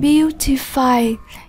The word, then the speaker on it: beautify: Beautify, nhấn âm tiết số 1. Chúng ta đọc là beautify các em nhé.